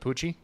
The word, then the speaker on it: Pucci: okay I've always wonder how do you say your last name is it poochie poochie yep just with a p that's as simple as that I like it well